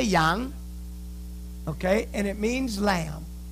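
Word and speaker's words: 羊: This word is pronounced Yang. Everybody say Yang.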